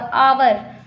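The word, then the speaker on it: hour: Vowel तो है नहीं, लेकिन हम जब बोलते हैं तो एच हमारा साइलेंट हो जाता है। एच हम नहीं बोलते, हम बोलते हैं ऑनेस्ट, ONEST बोलते हैं, और आवर OUR, लेकिन लिखते हैं एच से ही।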